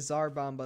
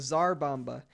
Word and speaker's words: Tsar Bomba: is the Tsar Bomba I know I said it right that time guys don't worry I'm saying it right now I didn't say it right I think I said to Tsar bomb by the last time this is the Tsar Bomba I was wrong but but thank you